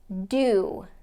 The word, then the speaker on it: do: Do. Now I contrast so and do because they are spelled very similarly, but they have totally different pronunciations.